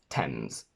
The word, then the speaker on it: Thames: pasts red meant delt the letter a never gives you the sound a except for these four words any many at which is a less common way of pronouncing eight the simple past of to eat and thames a i only in